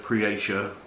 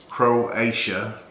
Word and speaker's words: Croatia: they're made in creolesia creation i'm saying it wrong croatia anyway they started making